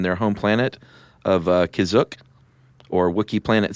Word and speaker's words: Kashyyyk: And, uh, what How did you pronounce it again? Kashyyyk.